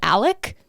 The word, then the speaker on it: Alex: is Alex the dad but he goes by Alec like it's it's spelled Alex but you pronounce it like elk